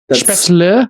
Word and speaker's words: Spätzle: Spätzle is how you say it?